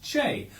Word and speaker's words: che: use of the Argentinian interjection Che, pronounced Che, which is used in much the same way as hey, pal, or mate are employed colloquially in various English-speaking countries.